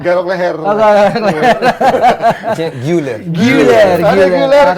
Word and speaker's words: Arda Güler: Arda Galer. Galer ya? Iya. Galer apa Guler ya bacanya? Garok leher. Oh, Galer. Güler.